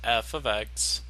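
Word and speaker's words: f(x): Technically, this f of x, and then that's how you pronounce it, f of x, is replacing a y.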